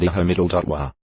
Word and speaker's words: Yahweh: read Ua, Ui, and Iho-wa. Ginsburg's edition of the Masoretic text vowel points the divine name to read Iho-wa. GE 3. 14. FT and Hebrew scholars generally favor Yahweh as the most likely pronunciation.